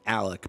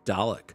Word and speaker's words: Dalek: I was going to say trombone Alec, but no, I was mispronouncing the word Dalek for ages.